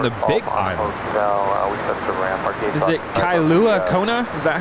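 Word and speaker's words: Kailua-Kona: Is it Kailua Kona? Is that how you pronounce it?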